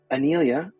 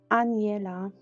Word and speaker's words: Aniela: Anelia, am I pronouncing your name right? I want to get it right. It's Aniela.